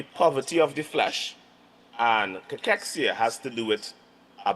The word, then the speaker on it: cachexia: So, sarcopenia and cachexia. All right, that's the pronunciation, all right?